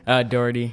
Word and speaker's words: Doherty: Doherty. Doherty? Yeah. Doherty.